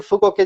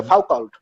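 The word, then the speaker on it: Foucault: উচ্চারণ করতে না পারেন আপনি ধরেন মিশেল ফুকোকে যদি আপনি ইংরেজিতে দেখেন তাহলে ওখানে আপনার মনে হবে ফাউল্ড ফাউল্ড কিন্তু আসলে ওনার নাম ফাক না ওনার নাম হচ্ছে ফুকো মিশাল ফুকো আচ্ছা আপনি মাঝখানে বারবার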